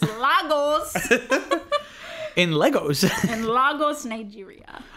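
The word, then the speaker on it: Lagos: in in in in Legos he says Legos but it's losos in Legos in losos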